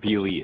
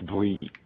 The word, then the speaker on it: BLE: Not BLE, it's Blee.